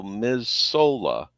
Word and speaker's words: Missoula: part of the U.S and it's m-i-s-s-o-u-l-a so Ms Sola if you were to pronounce it like that mazzola floods and I